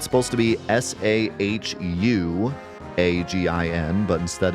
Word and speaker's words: Sahuagin: I guess you could pronounce it. It's supposed to be Sahugin, but instead it's Sahagin.